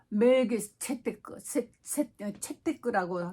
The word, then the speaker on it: 멜기세덱: 그 이름을 멜기세덱을 번역하면은 첫째 의의 왕이요 살렘 왕이니, 바로 멜기세데크라고 읽기도 하죠.